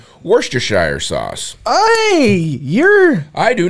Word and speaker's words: Worcestershire: Worcestershire. That is actually, yeah, that's how I tried. Yeah, it's not pronounced like it's spelled.